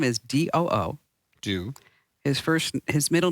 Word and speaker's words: Doo: And this is a great story, and it gets even better because the guy's name, let me just spell it for you. His first name is D-O-O.